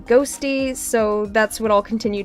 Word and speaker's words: Qhostii: It's spelled Qhostii, but apparently it's pronounced Ghosty, so that's what I'll continue to refer to them as.